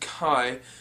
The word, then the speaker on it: chai: The word chai, or as it's properly pronounced, kai, has been used in African, European, and Asian countries for the word tea.